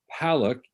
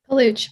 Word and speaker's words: Paluch: We have Palak. Am I pronouncing that correctly? Palak? Paluch, but that's okay. Paluch. I like Paluch better than Palak.